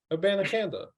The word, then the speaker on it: Abanikanda: Abanikanda.